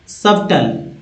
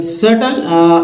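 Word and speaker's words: subtle: लेकिन लोग जो इंडिया में देखिए यहाँ बी का उच्चारण आप नहीं भी कर सकते हैं और जो है एल तो, लेकिन होता क्या है कि अब हम लोग बोलते हैं वर्ड है सटल, लेकिन क्या बोले सबटल।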